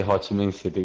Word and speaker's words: Ho Chi Minh City: Vu, we never say HCM city. We just say Ho Chi Minh City. We just write it like that, but we don't pronounce it like that.